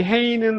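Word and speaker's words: ה: 음역은 H로 하는데 이 헤이는 한국 사람들이 발음하는 히읗보다도 좀 더 부드러운 발음이에요.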